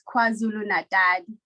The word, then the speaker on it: KwaZulu-Natal: They say with the Zulu accent, it's KwaZulu-Natal. That's how you say it.